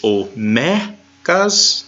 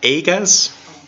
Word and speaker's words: omegas: And it's omegas, not agas. Me. Me. Me. Megas. Not a long A sound.